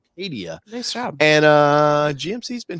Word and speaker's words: Acadia: Acadia.